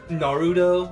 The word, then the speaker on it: Naruto: they're using like um obvious saying naruto when it's obviously there's no freaking d you're putting a d where the t is sometimes that could be